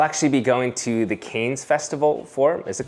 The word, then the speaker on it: Cannes: I'll actually be going to the Canes Festival for, is it called Canes? Can? Cane? Cane? Con. Cane. Cane. Like Can. It's just Can.